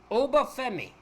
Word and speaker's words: Obafemi: Next up, we have the debut of Obafemi, is how you say his name, versus Ola Mensa.